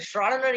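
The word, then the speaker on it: Schrödinger: of my favorites the schrodinger equation pronunciation g must be silent raw dinner so so this is the schrodinger equation okay this might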